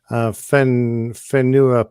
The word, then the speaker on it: Whenua: Whenua pie. Whenua pie. Actually, that wasn't not so bad. So the WH is pronounced with an F.